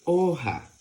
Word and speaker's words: hoja: la lección de hoja la palabra hoja se escribe con la letra h que como no tiene ninguna letra aquí delante suena muda la H con la o va a sonar Así mismo o porque recuerda que la H no tiene ningún sonido porque es muda por lo tanto va